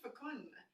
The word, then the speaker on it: fecund: I said fecund. Look how they say it. Fecund. Rhymes with second.